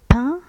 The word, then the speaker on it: peint: نوتر immeuble عمارتنا est plein et peint en blanc. هنا نشوفو بلي كاينة أيضا une lettre muette، أي حرف أصم في peint هي لو تي.